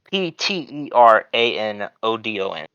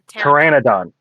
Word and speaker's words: pteranodon: one p-t-e-r-a-n-o-d-o-n that's a pteranodon okay listen there's a p in it all right yeah they're happy okay there's a pteranodon just like me in a crowded restroom the p is silent wow you don't aim